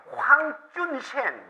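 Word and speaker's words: 黄遵宪: 이게 당시에 일본의 주지에 있는 청나라 외교관인 황준셴, 우리나라 발음으로는 황준헌이라고 하는데 황준셴이 지은 거예요.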